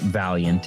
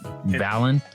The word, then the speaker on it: Valant: It's not Valiant. It's just Valant. It's Valant, I like to pronounce it as Valant.